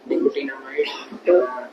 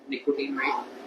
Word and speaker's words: Nicotinamide: Nicotinamide. या फिर इस तरह से कर लो, निकोटीन अमाइड। Nicotinamide. हाँ, अमाइड, हाँ, निकोटीन अमाइड।